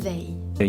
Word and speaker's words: Weil: Además, se pronunciaría Walisen porque según la Wikipedia se pronuncia Simone Weil y no Weil como ellos dicen, por lo que queda más lejos de vialismo.